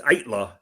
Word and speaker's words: Aittala: Yeah, you pronounce it right. It's Aittala. I know it is difficult. It's Finnish, and so people in America really don't get it.